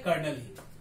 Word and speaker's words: colonel: कर्नल की spelling होती है COLONEL, कॉलोनल, राइट, बट इसको प्रोनाउंस करते हैं कर्नल ही।